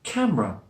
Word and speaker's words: camera: my students camera no we dropped that middle schwa sound to make camera camera stress on the